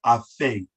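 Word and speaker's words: afay: a word in the Nuwaubic that we call afe, A-F-A-Y, afe, afe.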